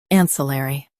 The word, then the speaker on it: ancillary: US says LR. UK says L. Don't drop the middle sound.